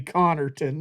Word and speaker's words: Connerton: Oh, excuse me, Connerton is how you correctly pronounce it.